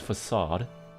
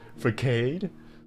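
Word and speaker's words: façade: No, the accent on the C is supposed to be there. What? Yeah. It's supposed to be there. It's facade. I always before I know how to say that, I always say it as facade. I was uneducated. Foolish fool. Yeah, I need to The W is word double U and a double V. It is. It's so stupid. It's facade. Like arcade.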